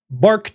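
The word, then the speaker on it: Barq: When it comes to air defense, the Houthis have the Bark 1, Bark 2. I think it's pronounced Bark. It's B-A-R-Q. I'm going to say it's Bark.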